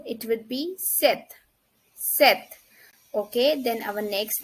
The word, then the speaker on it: sept: Sept. Sept. 7. 7. It would be sept.